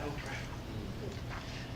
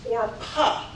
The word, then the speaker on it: Orpa: First and foremost, my name is not Oprah. My name is Orpa. But because it was mispronounced and misspelled so many times, I changed my name so it'd be easier to annunciate.